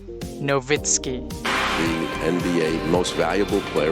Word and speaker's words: Nowitzki: nga German si Dirk Nowitzki. Ang W sa ilaha kay pronounce siyag V. So imbis Nowitzki Nowitzki.